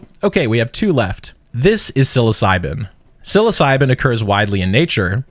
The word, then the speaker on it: psilocybin: Even though psilocybin sounds like it starts with an S, it doesn't. It starts with a P.